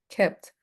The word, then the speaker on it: kept: Kept. So keep in present, kept in past. So you see, it's because we only have one E. Keep, kept. Meet here, met. It changed the pronunciation.